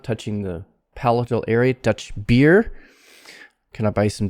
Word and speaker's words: Dutch: like in asian languages duchy not dutchy but dutch tongue curled up touching the palatal area dutch beer can i buy